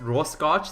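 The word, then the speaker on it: Rorschach: scotch in ink block test i mean that's raw scotch that's how you pronounce it ink blot test so literally like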